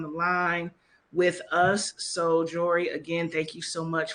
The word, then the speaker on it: Jory: I'm So just like it looks like it sounds. That's what it is. exactly. It's not that hard. Well, we got Jory here, based out in